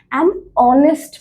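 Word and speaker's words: honest: যেমন আমরা উদাহরণ দেখি অনেস্ট ম্যান। অনেস্ট ম্যান যখন আমি বলি তখন এইচ এর উচ্চারণ কিন্তু সাইলেন্ট।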